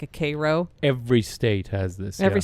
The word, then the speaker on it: Cairo: of Middle Eastern Town names but it's like Koo syrup instead of Cairo Egypt Cairo c y Koo that's how it's pronounced yeah that's how it's pronounced um it's